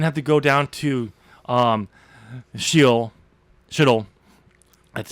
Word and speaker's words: Sheol: You get tortured, hung up on a cross, didn't have to go down to Sheol. That's how you pronounce it. It's not shithole, but it's Sheol.